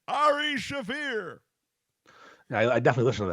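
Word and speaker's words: Shaffir: Ari Shafir, Ari Schaefer, if you will, if you want to pronounce it phonetically like an asshole. Shafir.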